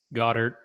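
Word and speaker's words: Goedert: Goddard.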